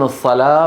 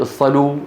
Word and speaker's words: الصلاة: افتحوا المصاحف تجدون الصلاة والزكاة والحياة والنجاة، هذه الأربعة مكتوبة بالواو. ولا أحد من العرب يقول الصلوا والزكوا والحيوا، ما أحد يقول هذا. انتبهتوا؟